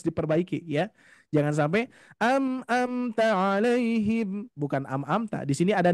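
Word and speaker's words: عَلَيْهِمْ: dulu sering KSI ya karena seringkiali saya mengucapkan juga dulu gini Bu Pak alaihim alaihim G enggak ada yang nempel Tuh makhrajnya tapi kalau kalau makhrajnya ingin nempel pas di Pangkal itu bunyinya harus ada gemaan sedikit ya alaihim alaihim Nah itu huruf Ha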